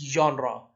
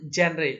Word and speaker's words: genre: It's genre. I told you it's not genre.